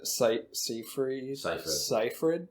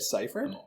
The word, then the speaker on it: Seyfried: But no, Amanda Seyfried. Yeah, that's how you say it. Seyfried?